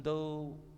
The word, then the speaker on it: though: Even though bacanya jangan duk ya, ada g-nya hilangkan. Even though both groups are barefoot.